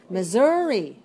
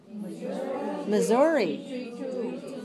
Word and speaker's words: Missouri: Missouri. Missouri.